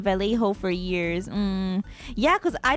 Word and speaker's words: Vallejo: Vallejo is technically correct, but people have been saying Vallejo for years. Yeah, because I didn't know 2L. Okay, yeah, maybe it's not common knowledge because I didn't know that 2 L's make a Y pronunciation.